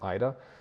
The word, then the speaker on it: 間: So aida is really common, really useful, and it's the kan from jikan, but on its own it's pronounced aida.